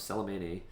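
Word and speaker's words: Selemene: get the block tiar Tiara of salaman um that is how you pronounce that because that's what Morana says uh it's a new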